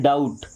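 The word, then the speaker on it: doubt: ओ यू बी टी इसको डू नहीं पढ़ते हम क्या पढ़ते हैं डाउट क्या पढ़ते हैं डाउट इस डाउट में क्या कहीं पर बी का उच्चारण हो रहा है आपने जितने भी वर्ड देखे क्या कहीं पर भी बी का उच्चारण हुआ है नहीं हुआ है ओके तो ये है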